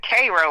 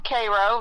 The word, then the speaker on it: Cairo: It's actually they pronounce it Cro like the ser. Okay, there you go. Yeah. Uh so yeah. Um yeah, I'm from Cairo.